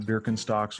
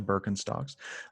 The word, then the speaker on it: Birkenstocks: from birkenstocks to investing chances are pronounced birkenstocks wrong it's probably birkenstocks but this is aaron